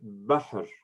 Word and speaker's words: بحر: So you read it bahr. You don't pronounce anything after no vowel after the ha letter.